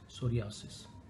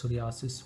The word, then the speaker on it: psoriasis: so it's called its psoriasis will garis people call it psoriasis it starts with the letter p p s o r i a s i s the p is silent so it is spelled